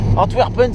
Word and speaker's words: Antwerpen: Antwerpen, si on veut bien le prononcer. Et encore, je pense que le W se prononce à la... à la germanique Antwerpen.